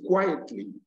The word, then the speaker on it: quietly: fourth rule is this if you add the three syllabic word it try syllabic word and it ends in either in error or l y the first syllable is stressed the first syllable is